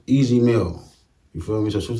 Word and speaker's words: Ez Mil: I forgot to East Mill, but I think that's known, bro. And man, y'all came through. His name pronounced Easy Mill.